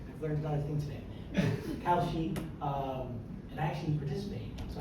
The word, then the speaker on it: Kalshi: What's your take on the discussion whether it should regulate, Polymarket or I always mispronounce it. Kalshi. Kalshi. Yeah. Good. I've learned another thing today. Kalshi, and I actually participate, so I should know how to say that.